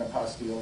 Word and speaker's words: apostille: they may want an apostille or not and it's spelled p-i-l-l-e very much close to Apostle but it isn't and it's just think